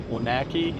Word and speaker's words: Onaqui: Onaki. It's how you said. Onaki. I've only figured out how to say it based off the spelling.